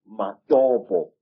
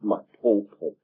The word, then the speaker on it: Matobo: And one of these parts of Africa, sir, is a remarkable place called the Mountains of the Round Rocks, Matobo, wrongly pronounced Matopo, in Zimbabwe.